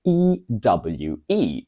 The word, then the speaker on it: ewe: life or even need ewe pronounced exactly like you means a female sheep